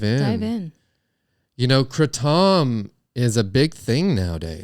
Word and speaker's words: kratom: it is actually pronounced kratom for sure 100 kratom uh but you can say it like an american and call it kratom and that's what a